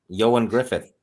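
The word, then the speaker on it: Ioan Gruffudd: How do you pronounce that guy's last name? Plays Lancelot. Yoan Griffith.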